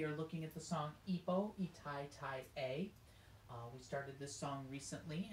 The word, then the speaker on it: Epo i tai tai e: Pronunciation, Ipo, Itai Tai A, even though it's a letter E, we're going to make the A sound.